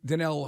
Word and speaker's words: Danielle: Garrett makes 25 million what would a Dan denell Hunter and it's it looks it's spelled Daniel or Danielle but it's D Jamaican